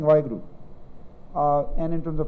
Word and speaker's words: Vaheguru: we have the message and we follow it, we will be better people and maybe attain to Vaheguruji.